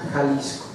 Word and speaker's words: Jalisco: Jalisco, en el término original se escribe X, Jalisco, pero se pronuncia Jalisco, ¿sí?